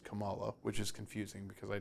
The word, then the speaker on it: Kamala: you do good in Miss Marvel it is pronounced Kamala which is confusing because I don't believe that's